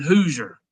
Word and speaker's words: Hauser: No, I've been saying it Nolan Hauser. Dabo was pronouncing it Nolan Hoosier today. So Nolan Hoosier, I'm going to go with that.